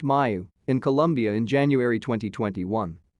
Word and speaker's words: Mu: experts first spotted this covid19 variant pronounced mayu in colombia in january